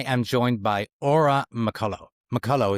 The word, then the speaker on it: McCullough: McCullough is the right way to pronounce it? Yep, that's right. McCullough.